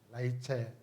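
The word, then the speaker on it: Rachel: 잘 알고 있는 라 라헬이 라헬 라이첼 리체 영어로 그렇게 발음하기도 합니다 그래서 야곱은이 라엘을 사랑하게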